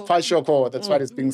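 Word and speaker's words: Kwashiorkor: I might be pronouncing it incorrectly. Kwashioko. Remember? Kwashioko. It's Kwashioko.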